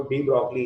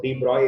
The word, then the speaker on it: de Broglie: तो French language के बारे में आप जानते होंगे कि वहाँ जो लिखते हैं वो पढ़ते नहीं है। तो यहाँ लिखा तो देखो डी ब्रॉगली है, स्पेलिंग अगर आप पढ़ोगे तो इट्स रिटन डी ब्रॉगली, पढ़ते इसको डी ब्रॉय इक्वेशन है।